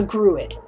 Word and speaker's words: Gruid: their sister race, comma, the Gruid. Pronounced like Druid, crane-like people native to Kalaya and fake China-ish land.